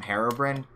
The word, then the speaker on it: Herobrine: How dare you pronounce him Herobrine? That's how you say it. That's how the guy who made the game says it. It's the Swedish way of saying it.